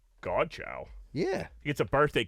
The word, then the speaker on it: Godchaux: Godchaux. Godchaux.